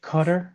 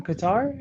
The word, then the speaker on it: Qatar: you really just say Qatar? That is the correct pronunciation. Don't test me. That is the correct pronunciation. It's Qatar. It's not Qatar. Just like Iran is not Iran.